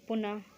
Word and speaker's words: पुनः: विसर्ग में देख लीजिए इनका ह का साउंड आता है पीछे, जैसे पुनः, प्रातः, ह का साउंड आ रहा है ना।